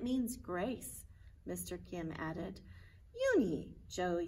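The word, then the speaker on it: Unhei: to you joey she nodded slowly yes it's pronounced yoon he and it means grace mr kim added uni joey said slowly and this time perfectly and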